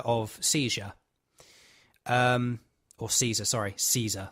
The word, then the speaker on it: Caesar: Caesar, that's how I've got to say it. It's not seizure, it's Caesar.